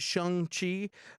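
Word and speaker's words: Shang-Chi: uh simulators is uh is shot and feige pronounces it shang chi uh and you know if you've seen kim's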